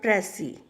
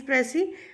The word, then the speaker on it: precis: Firstly, you should know the pronunciation of the word Pressy. Why it is Pressy? Because S is silent here. Precis, it is a French word.